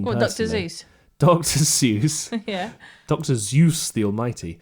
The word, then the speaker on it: Seuss: Seuss. Yeah. Dr. Zeus the Almighty. Yeah. And he says it's Dr. Seuss. Well, To rhyme with voice.